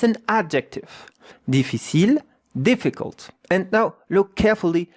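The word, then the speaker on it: difficile: Defil deficil and the e at the end. You don't hear it like most of the words. Yeah. You know in French that ends with an e deficil. Look at how to pronounce it. Really easy. Defil. Three syllables.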